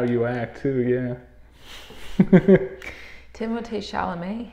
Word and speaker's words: Timothée Chalamet: Timothée Chalamet, his name rhymes. There you go. If you do the French pronunciation.